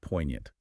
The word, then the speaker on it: poignant: Let's look at the second word, poignant. Spelled P O I G N A N T. The G is silent.